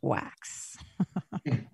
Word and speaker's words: Wachs: up on linkedin wax and or on and that's w-a-c-h-s pronounced wax and uh handwritten notes